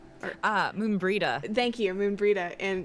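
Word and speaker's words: Moenbryda: played the game but I knew you were Moon Brea ah Moon breida thank you moon breida in in Final Fantasy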